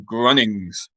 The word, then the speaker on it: Grunnings: Again, spelling doesn't matter, but just for pronunciation, Grunnings.